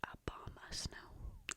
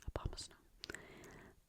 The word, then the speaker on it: Abomasnow: So, you say it Abomasnow. Abomasnow.